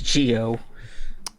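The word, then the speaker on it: Zi-O: How is Gio? I hate that that pronunciation so much. Z's are pronounced as G's and J's in Japan. So it's Gio.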